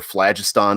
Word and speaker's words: phlogiston: Or maybe they could even navigate basically the phlogiston or phlogiston, as some people pronounce it, on their own.